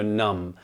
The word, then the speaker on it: numb: again just to get the point across so numb not numb numb these charts can numb our